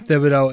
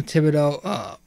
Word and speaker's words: Thibodeau: now thing with Tom Thibodeau, I always forget to pronounce the TH, you know, wanting to win now.